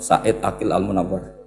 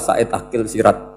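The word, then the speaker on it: Said Agil Al Munawar: profor Said Ail almunawar memang bacanya harus urut Said Ail almunawar karena sekali salah saidil Sirat sebetulnya engak apa-apa ini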